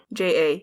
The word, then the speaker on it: Matija: Matija, yeah. But the J is the Y like in Jan.